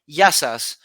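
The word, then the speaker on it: Γειά σας: Yasu if it's if you're talking to one, Yasu to you. But if you're talking to Okay. many, Yasas. But the plural, sas are many.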